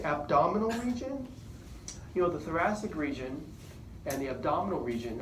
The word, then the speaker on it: thoracic: So thoracic, the first C is pronounced S. The second one is a hard C.